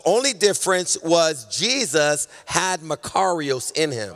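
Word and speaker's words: μακάριος: This type of happiness is a Greek word named, it's pronounced Makarios.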